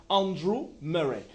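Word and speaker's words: Andrew Murray: Andre Andrew Andrew Muray je vais le prononcer en anglais Andrew Muray un pasteur anglais qui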